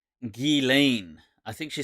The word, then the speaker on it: Ghislaine: so what's her name she pronounces it G Lane I think she spelled